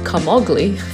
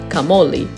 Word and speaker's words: Camogli: now i'm in the town which i called kamogli for this entire vlog before learning that it's actually pronounced kamoli located about 30 minutes east along the